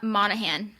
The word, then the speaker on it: Monaghan: Summer according to okay how do you say the author's last name cuz I'm going to butcher it uh Monahan I believe according to Annabelle Monahan